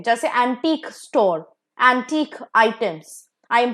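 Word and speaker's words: antic: a next pair is एंटिक एंड एंटीक now there are to different words same pronunciation but थोड़ा difference है the first एंटिक इज एंटिक एंड the second एंटिक हैज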